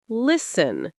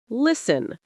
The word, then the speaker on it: listen: You don't pronounce the T at all. It disappears. Common examples: listen to listen.